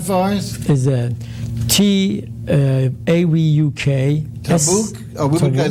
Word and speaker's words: tavuk: Can you spell that for us? Is a T-A-V-U-K. Tabuk?